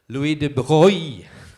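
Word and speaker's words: Louis de Broglie: some very famous physicists Louie de Bie that's the French way to pronounce his name when a Heisenberg Niels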